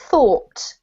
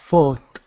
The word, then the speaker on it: thought: no yeah same with this one this is pronounced thought thought yep and sometimes people type this which really